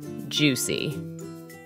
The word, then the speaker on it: juicy: bursts in your mouth don't forget to stress the word on the first syllable juicy nice juicy and chovy